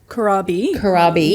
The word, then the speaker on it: Corabe: Can you just correct me if I pronounce this wrong here? But for those who don't know, Corabe Corabe.